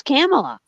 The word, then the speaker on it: Kamala: If you do Kamala, that's like the snake on Jungle Book, right? Kamala.